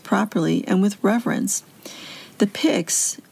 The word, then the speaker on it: pyx: the sacred host properly and with reverence the pigs it's spelled pyx is a blessed vessel made Flat